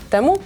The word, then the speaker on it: Temu: czemu ja tutaj jestem temu No temu to się mamy przyjrzeć ale czyta się teamu madzionka w dzisiejszym filmie